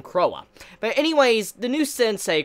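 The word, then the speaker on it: Croix: you pronounce the name I was calling her Crow last week but I think you pronounce her name Cowa but anyways the new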